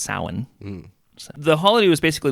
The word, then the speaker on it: Samhain: called a samhain spelled samhain but it's not pronounced samhain it's pronounced samhain the holiday was basically like november 1st was